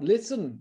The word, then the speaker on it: listen: ะ ค รั บ listen น ะ ค รั บ listen เ นี่ ย ตั ว T จ ะ ไ ม่ อ อ ก เ สี ย ง ก็ เ ป็ น